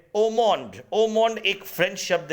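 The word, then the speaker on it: haut monde: तो ऐसे को आप ओमोंड कह सकते हैं। ये जो HOUT है इसमें AU का प्रोनाउंस होता है और MONDE को हम मॉन प्रोनाउंस करते हैं।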